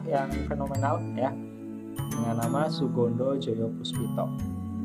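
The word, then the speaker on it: Soegondo Djojopoespito: fenomenal ya dengan nama Sugondo Joyo Puspito. Ya, seperti ini menggunakan ejaan lama ya. Jadi O dan E di sini dibacanya U ya.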